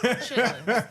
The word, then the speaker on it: chitterlings: It's just pronounced chitlins.